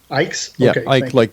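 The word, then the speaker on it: Icke: I don't know how you pronounce his last name. Ike like.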